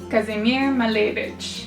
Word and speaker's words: Kazimir Malevich: So even if I screw it up across this entire video, there will at least be one tidbit of it pronounced properly. Kazimir Malevich Malevich...Malevich...